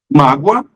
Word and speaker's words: mágoa: interessante isso aí pessoal mágoa magoa a mágoa é um substantivo magoa é um verbo conjugado ele magoa perceberam Além